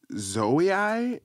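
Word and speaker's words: Zouaï: It's like Zoe. It's pronounced Z.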